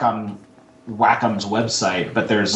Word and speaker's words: Wacom: if it's like on Wacom's website, but there's like some sort of official thing that it actually has like a pronunciation, so it looks like WACK-OM, Wacom, or apostrophe EM, however they had it.